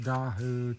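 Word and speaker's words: Dao: Yeah, but I think it's pronounced Daho tree or something, D-A-O.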